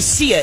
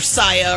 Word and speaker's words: Sia: voice tracks for fun you know who sia is right jeff no he does no i don't i don't either no you don't because you pronounced your saya or something like that hey i